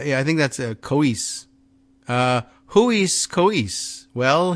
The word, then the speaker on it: Kois: word is no uh pronounced CO as in Coco right and is as in oh as in geese kois all right it's like